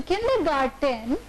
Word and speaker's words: kindergarten: So kindergarten is garten, it's not garden.